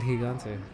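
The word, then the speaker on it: gigante: I'm like yeah man that Spanish is called higante like oh that's pretty generous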